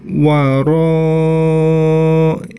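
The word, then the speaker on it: وَرَاءَ: Kemudian yang selanjutnya yang perlu diperhatikan waro, ya. Di situ huruf ro-nya dibaca panjang karena itu mad wajib muttasil, ya. Panjangnya 5-6 harokat.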